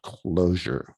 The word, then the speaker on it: cloture: The only way you can stop a filibuster is if you get what's called closure, which is not spelled with an S, it's with a T, cloture, CLOTURE.